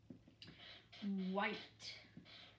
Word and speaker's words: white: White. There's a silent h in the word white.